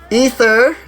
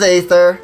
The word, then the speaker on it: Aether: i thought it was aether i'll admit because aether yeah it is usually you know a e t-h-e-r is usually pronounced aether but we now know that it's ether so i i will